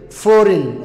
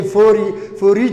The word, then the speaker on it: foreign: tahay okay jidan iyadana waxa ka dambeeya n foreign okay foreign ha isku dhihin waa foreign ana ka dambeysa